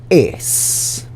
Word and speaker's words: es: So I'm going to write or, and es sounds just like the English word ace, A-C-E.